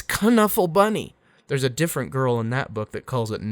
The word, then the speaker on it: Knuffle Bunny: actually it turns out i'm saying it wrong it's connuffle bunny there's a different girl